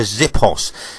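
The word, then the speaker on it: xiphos: They had a short stabbing sword, which was about 12 to 18 inches long, called the zippos. It's spelled X-I-P-H-O-S, but I think it is pronounced the zippos.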